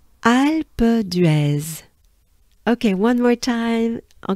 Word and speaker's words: Alpe d'Huez: take a good breath alba dress so it's kind of right it it it it's linked together right alpha dress okay one more time